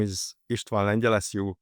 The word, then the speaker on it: Istvan Lengyel: So my name is Ishtan Angel as you correctly pronounce it.